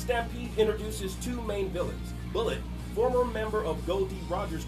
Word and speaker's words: Bullet: Bullet, former member of Goldie Roger's crew, whose name is pronounced like mullet in the dub because, well, he has an enormous mullet.